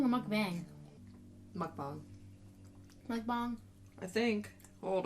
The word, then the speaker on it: mukbang: It says the mukbang pronunciation is a bit tricky. Most Western mukbangers pronounce it exactly as it looks, mukbang. But in Korean it's pronounced mukbang.